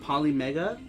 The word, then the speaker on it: Polymega: of people because of poly Mega okay that's how you say it I couldn't I couldn't